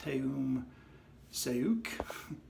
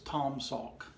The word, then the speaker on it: Taum Sauk: when I looked at this that this was pronounced Tim say oak because of the you they you there but it's actually pronounced like the a you in fraud so also it's Tom Salk and this is named after the highest point